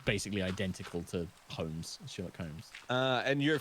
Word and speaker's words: Holmes: silent yeah so it's it's a weird English English name with a bizarre silent L but yeah so that's why it's just shirock Humes because it's basically identical to Holmes sherock Holmes uh and